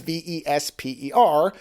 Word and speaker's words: Vesper: That's not a mispronunciation of Vespa the moped. The movie's title is Vesper, which is the name of the title character.